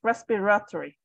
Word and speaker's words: respiratory: okay yep so um if you want to sell a little bit natural make the the a a little bit softer so respiratory story that's respiratory respiratory yep Perfect all right